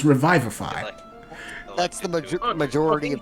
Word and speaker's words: revivify: Even the fucking British say revivify.